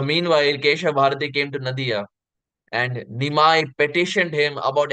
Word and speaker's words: Nadia: kha bharati came to Nadia just as a side point it is pronounced as Nadya often times um because